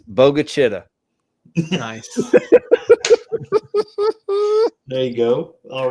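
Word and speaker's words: Bogue Chitto: How would you pronounce? Not Mississippi, obviously, but these. Bogshito. Yeah, Bogshito. Yeah. It's Bogachita.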